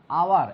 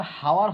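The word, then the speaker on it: hour: আওয়ার, এখানে কিন্তু উচ্চারণটা হাওয়ার হয়নি, ওই উচ্চারণটা কি হয়েছে? আওয়ার। তো এইচের উচ্চারণ এখানে হয়নি।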